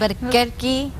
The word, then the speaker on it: Albuquerque: Kudos to Elias for that awesome pronunciation, that Spanish pronunciation. Wasn't that good? Albuquerque.